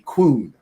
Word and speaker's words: kwoon: Also, to answer DJ's question, Chinese dojo or training hall is called a kun. Which did you just say coon? I know I have a speech impediment and I apologize, but it's spelled KWOON in English.